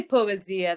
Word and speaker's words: poesie: Poesia? This is how you pronounce it? Poesia. We can say Poesia. That sounds Italian, right?